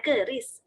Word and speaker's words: QRIS: Ya emang sih tulisannya tuh QRES atau Quick Response Code Indonesian Standard, tapi bacanya jangan pakai Q, bacanya pakai Kris. Oh, jadi langsung aja ya. Iya, jangan pakai Q gitu.